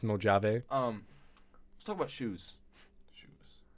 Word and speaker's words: Mojave: So It's pronounced Mojave.